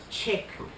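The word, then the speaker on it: Šefčík: The C is in the Czechoslovakian. It has a little V on top of the C, and when you get the little V on top of the C, you pronounce it ch. So it was said chick. So sometimes he used to call me Chicky.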